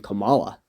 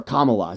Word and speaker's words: Kamala: 50-50, only slightly favoring Kamala. Or Kamala, so I don't upset you with the mispronunciation. If you can pronounce Donald Trump's wife's name, you can pronounce Kamala. It's actually pretty easy to say Kamala.